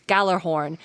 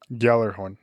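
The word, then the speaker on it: Gjallarhorn: he has a horn know as known as Galler horn and its blast can be heard in all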